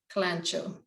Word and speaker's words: Kalanchoe: And it's Flaming Katy is one of the names, or Kalanchoe, K-A-L, how do you spell it? K-A-L-A, I forget spelling sometimes, not my strength. Kalanchoe. Kalanchoe.